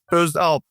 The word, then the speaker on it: Özalp: We have a different letter uh like pronunciation different. M. So my last name it's the kind of like uh starting the uh uh like kind of the O and with dots.